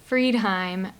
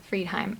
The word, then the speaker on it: Friedheim: little difficult um so m f r i e d like fried and then h-e-i-m friedheim Asheville nc.gov and you